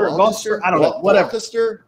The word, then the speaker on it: Gloucester: Northeast uh Gloucester or you know how to say that word it's it's Gloucester I don't know whatever